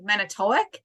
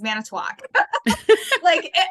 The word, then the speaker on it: Manitowoc: Like people are always like Manitowoc. And I'm like, no, it's Manitowoc.